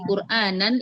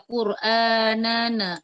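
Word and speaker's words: قرآنا: Kemudian yang tadi yang di Quranan itu tidak boleh ditarik. Jangan dibaca quranana aja. Tapi diberikan sifat bainiahnya quranan. Quran ya seperti itu.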